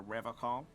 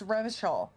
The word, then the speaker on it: Revachol: But someone has to stay strong for Revocol. He pronounces Revocol with a hard K, unlike other people. Yeah, I was like, he says it wrong, right? It's Revachol.